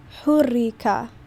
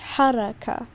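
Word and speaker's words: حركة: So these guide how we pronounce it, because this could be hurrika, but it is haraka, right?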